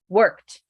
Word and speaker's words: worked: pronounce it okay so throw all your energy into the syllable that comes before example worked emphasize were ignore the rest worked worked how will